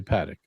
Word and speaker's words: Patek: at you with your fancy Patek Philippe book behind you.